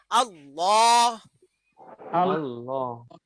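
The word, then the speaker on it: الله: আল্লাহ শব্দের লামের বৈশিষ্ট্য হলো এই লামটাকে উচ্চারণ করতে হবে মোটা করে। হ্যাঁ, মুখ ভরে মোটা করে উচ্চারণ করতে হবে। দুনিয়ার সকল লাম পাতলা উচ্চারণ হবে, শুধু আল্লাহর নামের লামটা মোটা উচ্চারণ হবে, তার গাম্ভীর্য বোঝানোর জন্য।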